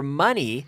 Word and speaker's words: money: money money now remember money rhymes with funny money funny dinero gracioso